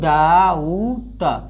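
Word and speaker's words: doubt: तो डाउट हो जाएगा, लेकिन ई बी हमेशा साइलेंट होता है, इसलिए क्या पढ़ते हैं? इसको डाउट, इसको क्या पढ़ा जाता है?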